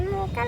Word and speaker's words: Mocha: हे हॉटेलची स्पेलिंग आहे एम ओ सी एच ए आणि त्याचं प्रोनाउन्सिएशन मोका आहे.